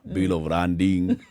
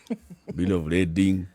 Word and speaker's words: bill of lading: Bill of landing, bill of lading.